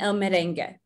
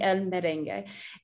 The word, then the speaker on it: merengue: So you don't really pronounce that U when we have words like that.